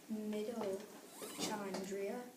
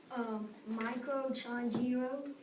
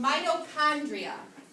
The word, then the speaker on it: mitochondria: I think it's pronounced mitochondria. Close. Why? You want to take a guess? Microchondria. It's actually pronounced mitochondria.